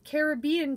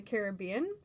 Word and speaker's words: Caribbean: grown up in the caribbean learn in school that the word derives from an indigenous tribe called the caribs um and carob is pronounced with the accent on that a like carib um so it's not